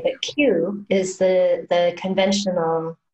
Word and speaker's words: qi: I don't think I would have put in K, but Q is the conventional spelling of Qigong. So Q-I is pronounced Qi.